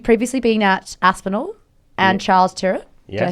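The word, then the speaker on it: Charles Tyrwhitt: best so you've previously been at Aspen and Charles turet did I say it right y that's right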